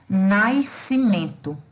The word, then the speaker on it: nascimento: Porém, como se trata de um dígrafo, não existe a pronúncia das duas letras. Elas são duas letras que representam um único fonema. Então, a pronunciazinha desse S aqui, ela não existe, tá? Eu vou falar corretamente nascimento e não nascimento.